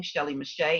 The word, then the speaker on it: Shelley Mechette: it's under my name shelly mache and i'll spell it because it doesn't sound the way it's spelled so it's s-h-e-l-l-e-y m-e-c-h-e-t-t-e and so you can